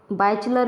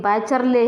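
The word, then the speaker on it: Wycherley: हैं तो इसका नाम लिखेंगे और बाय विलियम बाइचलर भी कह देते हैं, बाइचरले, सॉरी कोई बात नहीं, बाइचरले है इनका सेंस, पूरा सही जो प्रोनाउंसिएशन है वो थोड़ा सा कोई।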